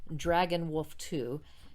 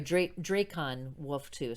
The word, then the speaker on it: Dracon Wolf 2: And I'm sorry, Dracon Wolf 2. Sorry, Dracon Wolf 2. I mispronounced it the first time, but Or Dragon Wolf. no, there isn't a G. It's a C.